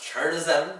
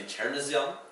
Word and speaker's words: chernozem: it's transliterated, it looks like it should be pronounced Chernozem, but it's actually Chernozem.